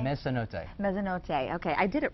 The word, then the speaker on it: Mezzanotte: Did I pronounce that right? Mezzanotte? Mezzanotte.